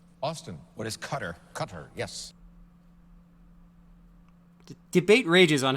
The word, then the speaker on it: Qatar: What is cutter? Qatar, yes. Debate rages on how to pronounce that country, but it really is Qatar.